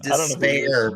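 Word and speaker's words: D'Spayre: Nah, his name is Despair, but he's spelled like really weird. It's like D''SPAYRE.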